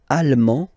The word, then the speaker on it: allemand: L'Allemagne, allemand, allemande, okay, same thing here. Okay, you don't pronounce the final D, but then you pronounce it here for the feminine form. Allemande, okay?